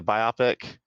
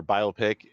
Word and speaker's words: biopic: dolomite is my name which is a biopic or biopic if you say it like that but don't say like that it's biopic about really